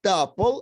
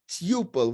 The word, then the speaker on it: tuple: And tuple, some people pronounce it as tuple according to the rules, but as far as I know, it is still tuple.